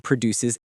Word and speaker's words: produce: Stress on the second syllable. For example, this farm produces excellent produce. That's a tongue twister, but it shows both meanings.